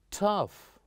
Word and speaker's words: tough: I know it's tough. Tough. But it's lots of fun. You see, sometime when we have GH at the end, they are most likely to be pronounced as F.